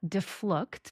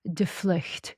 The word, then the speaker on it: Devlugt: name is and my last name is pronounced here in America deflooked. I am of Dutch origin. My dad, he is Dutch. So if you're in Holland and you see my last name, then you know I didn't say it correctly. So properly it's pronounced deflect, which means to take flight, which is such a